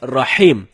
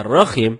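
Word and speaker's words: رحيم: Rohim artinya Maha merdu bacaan yang benarnya Insyaallah dengan huruf ha ha dalam tenggorokan jadinya rahim bukan roh Hai kalau teman-teman bacanya rokim itu dapat merubah makna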